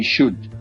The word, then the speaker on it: should: sh okay you say should so the L is silent so remember the silent